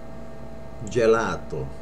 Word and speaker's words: gelato: A lot of people say gelato, which is right, but without the accent. It's gelato. Gelato.